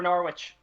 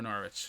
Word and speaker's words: Norwich: to pull you on it's not norwich i don't think you pronounce the w it's norwich s yeah exactly like there's been about